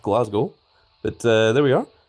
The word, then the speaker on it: Glasgow: CWard or like CW even Glass Cow, which is not how it's pronounced. It's pronounced Glasgow.